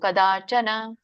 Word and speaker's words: ಕದಾಚನ: ಯಾವಾಗಲೂ ಎಳಿಬಾರದು ಮಾತಾಜಿ ಕದಾಚನ ಇಲ್ಲ ಇಲ್ಲ ಒಂದುಗಳಿಗೆ ಎರಡುಗಳಿಗೆ ಅಂತ ಇರುತ್ತೆ ಯಾವಾಗಲೂ ಉಚ್ಚಾರಣೆ ಮಾಡುವಾಗ ಕದ ಎರಡುಗಳಿಗೆ ಹೇಳಿಬೇಕು ಇಲ್ಲಿ ನ ಹರಸ್ವ ಇರೋದರಿಂದ ಒಂದೇಗಳಿಗೆ ಹೇಳಬೇಕು ಕದಾಚನ ವಾಕ್ಯಂ ತಪಸ್ಕಾಯ ನಾವು ರಾಗವಾಗಿ ಹೇಳುವಾಗ ಎಳಿತಾರೆ ಸಾಮಾನ್ಯವಾಗಿ ಬಟ್ ಅದು ಎಳಿಬಾರದು ಓಕೆ ಮಾತಾಜಿ ಪ್ರಾಕ್ಟೀಸ್